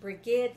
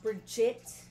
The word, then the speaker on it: Brigid: who see it it's b r i g i d it is pronounced Brigade like Brigadier or Brigade it is not pronounced Brigette Brigid Okay g like good not J like judge or George um she was the